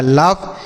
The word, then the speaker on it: laugh: ठीक है, आगे LAUGH, तो एल से पढ़ेंगे लॉ, ए के बाद यू रहेगा तो ऑ पढ़ेंगे, ये हो गया लॉ। GH से पढ़ेंगे फॉ, ये लिखा लाफ, मतलब होता है हंसना।